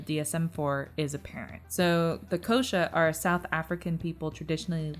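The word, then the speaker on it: Xhosa: So, Amma Fufuana and Ukuasa are two cultures specific descriptive terms used by Kosha, but it's spelled with an XH, but I looked it up online. It said Kosha.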